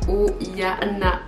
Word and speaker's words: Oihana: prononcé mon prénom donc mon prénom c'est au il ya na oihana essai basque et à hawaï s'il